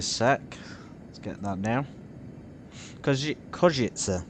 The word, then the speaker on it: Košice: Košice, apparently it's pronounced, is down here in the south of Slovakia. My first venture here, it sounds very much like Užice, if anyone's heard of that.